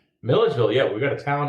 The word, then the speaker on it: Milledgeville: So we go from Atlanta to Oxford, and then we've already discovered that the overnight town is it pronounced Milledgeville? Milledgeville, yeah.